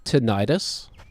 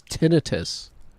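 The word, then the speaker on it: tinnitus: It's not tenitis. Did you know that? It's tinitus. Is how you pronounce that?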